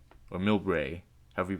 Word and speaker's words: Millbrae: It went down to another station called Millbrae or Millbrae, however you pronounce it. What's the proper Bay Area pronunciation? Well, in the Bay Area, people say Millbrae.